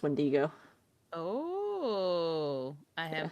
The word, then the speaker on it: wendigo: Beast there's that dude um you mean the wind to go it's it's pronounced wendigo oh I am pronouncing it wrong I did